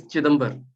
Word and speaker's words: Chidambar: Okay, so it's Chidambar. Chitambar. Chidambar. Okay. Yeah, you might have heard of Chidambaram.